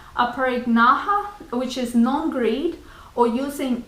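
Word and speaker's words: Aparigraha: And the last one from Yama is Aparignaha. Sorry, I mispronounced it. Aparignaha, which is non-greed, or using only what you require.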